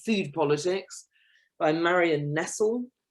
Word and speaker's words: Nestle: Food Politics by Marion Nestle, which is spelt like Nestle, but without the E on the end.